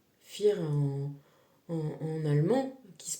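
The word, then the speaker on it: vier: Je te rappelle le F le 4 fir en en allemand qui se prononce, tu vois, ça s'écrit V. Euh et ça se prononce F.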